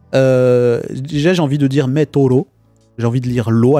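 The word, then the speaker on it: メートル: Mais c'est pas Metolu. Ah oui, là, ça, petite correction sur ma prononciation. Metolu. J'ai dit Meto. J'ai allongé. Metolu.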